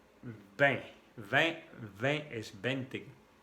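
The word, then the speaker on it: vingt: 20 es 20. Con la V de vaca que se pronuncia con el labio de abajo, por debajo de los dientes.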